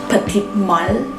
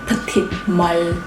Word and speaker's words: Petite Malle: I tried to pronounce it Petite Malle. Is that correct? I'm not a French, but I think that is how the SA told me, like Petite Malle. The L is need to be Malle, like that.